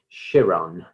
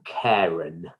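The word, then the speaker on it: Chiron: to research the character of shiron or Karen depending on your pronunciation um he is an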